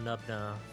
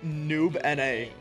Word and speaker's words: Nubna: The pronunciation is Ezreal Noob N-A. It's a league thing.